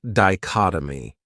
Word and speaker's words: dichotomy: another great noun is dichotomy this word has four syllables and the stress is on that second syllable dichotomy that third syllable has that schah that uh sound D chot oh my what it means is